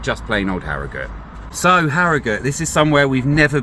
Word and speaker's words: Harrogate: So, Harriut, not Harriate. I actually had to look that up. Do you pronounce it Harriut or Harriate? I assumed it was Haragut cuz that's what stuck in my head. But, you know, always like to look these things up. And I'm quite known for pronouncing things wrong all the time. So, I thought we better get this one right.